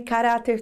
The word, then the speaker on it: caráter: Por exemplo, ca-ra-ter. Qual é a sílaba que deu aquele arrastadinho? Ah, ca-ra-u-ra! Então, se você sabe que a palavra tem acento, chama pela palavra. A sílaba tônica era "ra", então com certeza o acento agudo fica sobre o "ra".